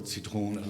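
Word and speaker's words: Zitrone: and the schwa word citrone, then you see the contrasting behavior where the foot-tail schwa attracts the stress to that syllable citrone like that.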